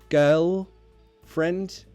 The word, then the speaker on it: girlfriend: a pronunciation problem so girlfriend the L you won't hit that hard girl friend that's too much work for the tongue so girl try to change it to that all sound girl girl friend is much easier to pronounce than girl friend girlfriend try say it that way well again more long-distance